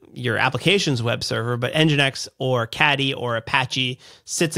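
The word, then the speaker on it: nginx: your enginex server uh or enginex is enginex a server is that a correct way to say that Wes yeah yeah enginex is a a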